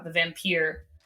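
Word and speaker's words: The Vampyre: Lord Byron book uh the vampire is how I'm gonna pronounce it because it's spelled with the Y um was one of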